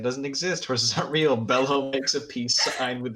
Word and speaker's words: Bello: exist horses aren't real bellow makes a peace sign with his hooves and banishes more fortnite no more foot no more horses okay so i believe bello is spelled b-e-l-l-o like italian but uh i won't